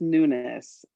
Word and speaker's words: Nunes: go with that and you pronounce how you like to pronounce your last name how about that oh that sounds good it's newness yes thank you i appreciate